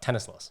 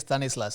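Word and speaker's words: Thanislaus: was t-h-a-n-i-s-l-a-u-s and i thought it was like tennis laws yeah it is stanislaus it's more like a typical tamil name yep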